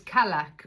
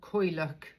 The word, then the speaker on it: Cailleach: And this one was Calac or Cailleach, depending sort of how you like to pronounce it.